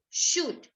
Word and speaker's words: should: this wood could and should has a silent letter the silent letter is the l no es should no ely you need